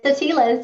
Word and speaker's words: Atiles: name a little bit do you want to pronounce it appropriately for us it's the tilas you got it right not a lot of